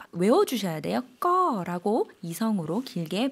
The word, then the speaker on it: ก็: 꺼라고 이성으로 길게 발음을 해주시면 되겠습니다.